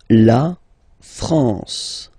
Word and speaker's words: La France: you get the sound you don't pronounce the m at all it's this nazal okay okay La France La France okay n here naal La France okay we continue Le